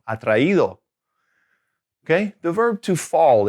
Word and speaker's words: atraído: So it's kind of helping you maintain the right stress in the right syllable, atraído.